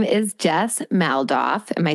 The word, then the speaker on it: Jess Maldoff: Yes, her name is Jess Maldoff.